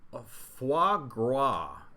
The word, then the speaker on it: foie gras: However, foie gras, I think that's pronounced.